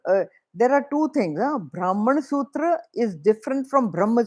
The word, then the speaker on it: Brahman: the highest truth Brahma in English Brahma because there's a nasal sound it is written as n at the end brah it is written